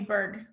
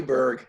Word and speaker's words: Burg: you coming on here I'm gonna call you bird you can call me berg you bird just spell it right and it's be urg well thank you so